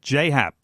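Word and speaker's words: J. A. Happ: know his initials are J a but it's pronounced J so it's just Jay Happ okay alright I learned that the other day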